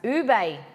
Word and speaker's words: ube: Ube is pronounced ube.